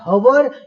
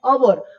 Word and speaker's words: hour: तो शब्द का पहला लेटर उसको कैसे हम प्रोनाउंस करते हैं, हम इसको ह बोलते हैं माने हवर, या हम इसको अ बोलते हैं अवर, हम इसको अ बोलते हैं।